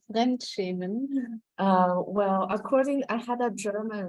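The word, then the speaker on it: Fremdschämen: The title, Michèle, could you pronounce what? Yes, it's called Frenchman.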